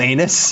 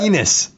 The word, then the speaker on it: Enes: Did you just call him Anus? how do you say it? Enos.